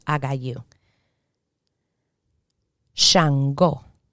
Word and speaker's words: Shango: pronounced i got you shango shango and in spanish chango so the sh turns into a cha ebay ebay in spanish